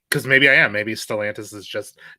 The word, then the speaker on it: Stellantis: But so what is the proper pronunciation after all of that? Stellantis? I'm pretty sure Stellantis is the way to go, though Mike didn't correct. Stellantis, not Stellantis.